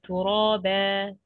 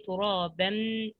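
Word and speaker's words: ترابا: Okay, turaba. Okay, we didn't say turaban. No, turaba. Just fatha, the first sign.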